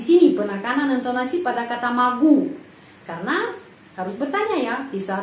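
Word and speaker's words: могу: Alet huruf ya ya Terus magu magu kenapa O dibaca a karena penekanannya berada pada huruf u karena itu O dibaca a magu magu ya penekanannya pada huruf u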